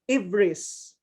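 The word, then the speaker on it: EBRIS: do you say it how do you say it correctly again uh i use e-v-r-i-s okay but others say everest okay everest okay so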